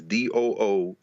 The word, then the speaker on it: Du Bois: archives, where he says, the way I pronounce my name is DOO-BOISS, Du Bois. In other words, so Du Bois is the Latin pronunciation, but Du Bois would remind people that he would pronounce it Du Bois.